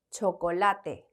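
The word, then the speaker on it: chocolate: 초콜릿이라고 하는 단어를 보겠습니다 초콜릿은 영어랑 스펠링은 이제 거의 똑같지만 발음이 다르겠죠 자 우리 초콜릿 읽어 보겠습니다 초콜라 de 그렇죠 초콜라 de 그다음에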